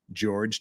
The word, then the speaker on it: Jorge: of the alleged victim George Torres again spelled Jorge but everybody pronounces it George so that's what we